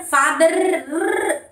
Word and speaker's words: father: Brother, father, no sound. R always when it goes in the last, it should be silent.